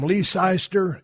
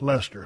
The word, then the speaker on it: Leicester: Hey, Steve, this is from Leicester, England. Oh, pronounced Lester. Of course, he had to put that after he made me pronounce it wrong.